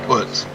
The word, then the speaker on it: Putts: It's Putts. Kyle Putts. That's what he told me. He said everybody calls me Putts.